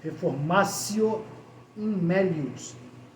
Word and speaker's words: reformatio in melius: Pronuncia-se reformatio in melius, que é aquela situação em que só a